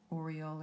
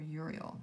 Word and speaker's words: Uriel: is also in archangel oreol or uriel there's different ways of pronouncing it now vesta sorry